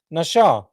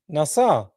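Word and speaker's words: נשא: The pronunciation spelled with the Hebrew letter shin, it is pronounced nasha, but also can be nassa, NASA.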